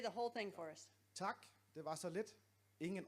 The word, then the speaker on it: tak: Is it a little ah instead of ah? Ah. Tak. Tak.